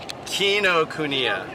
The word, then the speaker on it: Kinokuniya: grand opening ceremony of say it help me pronounce it Allison what the bookstore a largest the oldest book store in Japan Kinokuniya yeah alright thanks for joining us i Canada